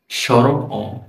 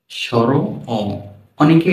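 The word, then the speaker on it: স্বর অ: এই যে সর্বপ্রথম আপনারা যে বর্ণটি দেখতে পাচ্ছেন এর নাম হচ্ছে সর। সর নাম কি? সর। আমরা অনেকে এটাকে সরু বলি না। সরু না এর নাম কি? সর। সর অনেকে এটাকে অ বলে থাকে। তবে যেহেতু এল সরবর্ণ এজন্য এই অ আ এর পূর্বে স্বর কথাটি যুক্ত করা হয়েছে।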